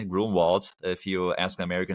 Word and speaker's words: Grunwald: So, the G R U N W A L D Grunwald, if you ask American how to pronounce that, but Grunwald in in German.